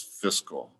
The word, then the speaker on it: fiscal: Fiscal, fiscal. Sounds like physical, but it's fiscal.